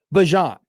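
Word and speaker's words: Bijan: You've all been pronouncing it wrong for the last three decades. Like Bjon.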